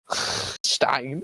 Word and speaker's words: Stein: also it'sin bro yeah it's sh not no how do you say his name Einstein yeah yeah Einstein eisenstein yeah but in German it's a sh likein Stein that's why it's different that's